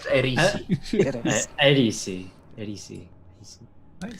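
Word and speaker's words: Aerisi: Erisi. Erisi Kalanov. I think Khaleesi, but Erisi.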